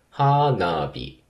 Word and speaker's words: 花火: わけですけどえ花火のアクセントはどうなってるかというと花火花火高ひくひくですねえ頭が 1番高いです花火一方ノーズの